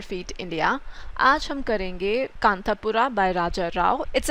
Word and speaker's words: Kanthapura: Indian village जिसका नाम कांतापुरा है। तो हिंदी में तो अगर आप देखेंगे तो प्रोनाउंसिएशन कांतापुर ही रहेगा, है ना। वो तो जब हम एंग्लिसाइज करके बोलते हैं तो कांतापुरा हो जाता है, राइट।